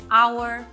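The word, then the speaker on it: hour: কিন্তু এইচ সাউন্ডটা সাইলেন্ট আবার অনেক সময় এইচ সাউন্ডটা যখন একটা ওয়ার্ডের একদম শুরুতে আসে তখনও সাইলেন্ট হয়ে যায় যেমন আওয়ার অনেস্ট অনারেবল এখানেও কিন্তু এইচ সাউন্ডটা সাইলেন্ট আবার এইচ সাউন্ডটা যখন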